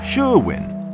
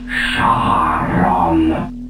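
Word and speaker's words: Charon: no you idiot my name is Shon it's spelled c h a r o n got that now you say it shwin you've got it all wrong it's pronounced Shon that's spelled c h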